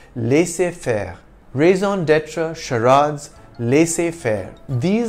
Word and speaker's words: laissez-faire: The French pronunciation of laissez-faire is not too different from the English one, laissez-faire.